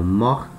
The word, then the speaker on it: morte: Repara, aqui no masculino, a letra T muda, né? Mor, mor. No feminino, a letra T passa a ter som. Mort, mort. Tá? Então, tem uma pequena diferença na pronúncia.